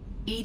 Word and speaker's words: EDI: a specific inquiry why are you named ed ed is the phonetic pronunciation of Ed I that is an acronym for enhanced defense intelligence how are you getting along with Joker mr.